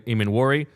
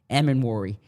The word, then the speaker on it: Emmanwori: The players on your board who stand out like a sore thumb heading into tonight are I would say, Emmanwori, Luther Burden, the Missouri wide receiver, which would probably be a surprise if they moved up for him.